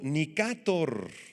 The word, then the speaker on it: Nicátor: El tercero, pongan aquí muchísima atención, el tercero de los generales de Alejandro se llamó Seleuco Nicátor, con acento en la A.